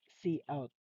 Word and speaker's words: cout: So, pronounced as cout in a simplest term. Okay? Muna siya. The way we read it in traditional term in English, it is count, but we address it as cout.